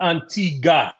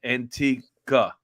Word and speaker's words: Antigua: You You do not say pronounce the Antigua. U. They told you that when you went there. Isn't that what they All, did? all the people on the island said it's pronounced Antigua.